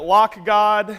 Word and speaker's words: Lock.gd: Lock.gd, I pronounce it LockGod, and at Shoebox on Twitter.